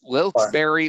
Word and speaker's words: Wilkes-Barre: It is pronounced Wilkes-Barre or Wilkes-Barre, but most people pronounce it Wilkes-Barre, especially in this area where it's like right next door. But it's Wilkes-Barre or Wilkes-Barre, depending on who you talk to.